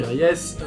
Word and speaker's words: Reyes: L'histoire, c'est l'histoire d'un jeune du nom de Rémi Reyes, que ça se prononce comme ça.